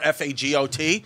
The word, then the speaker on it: Fagot: I forgot what team, a college team, and his last name was Faggot or Fagot. Yeah. So it's like faggot, but it's actually pronounced Fago.